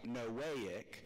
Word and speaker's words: Noahic: gonna look at the noahic Covenant that's a fun thing to say right uh it's pronounced sort of like noahic as in there's no way God is ever going to do that again yeah that you shouldn't